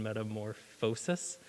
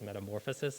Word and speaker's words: metamorphosis: or metamorphosis metamorphosis sorry so in latin the the accent is on the o in metamorphosis but in english it's metamorphosis and my audiobook editor